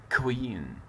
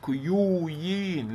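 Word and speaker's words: queen: فمثلا عندي هنا بعدها ضم كوي كوين كوين ملكه ك ك ك كوين ما قلتش كيوين لا لا لا لا لا.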